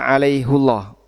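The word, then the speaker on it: عليهُ الله: Kalau dibaca hi harusnya gimana bunyinya? Alaihillah. Alaihillah. Kalau dibaca alaihullah ini tafhim sehingga Allah-nya jadi tebal. Allah alaihullah. Kalau dibaca alaihi jadinya jadinya tarkik. Sehingga di situ bacanya jadi tipis alaihillah dan dijaga tafkhim karena agar bisa dibaca tebal alaihullah.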